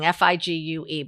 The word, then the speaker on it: Figue: dresses and it's called fig um and um and igue guys yeah it's a french spelling figue but it's pronounced fig as in fig newton and so i um